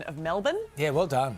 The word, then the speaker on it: Melbourne: Can I just take a moment to congratulate you on your pronunciation of Melbourne? Yeah, well done. You flattened that right out, bro. You really nailed the vowels there.